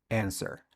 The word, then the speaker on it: answer: cuenta responder es answer en ese answer la do no suena es decir no es sino quiten la W ahí para pronunciarla y queda answer answer segundo Esa no